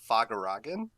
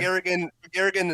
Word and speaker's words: Fagaragan: So, Fagaragan is fine. I pronounce it Fagaragan, but Okay. Fagaragan is also acceptable.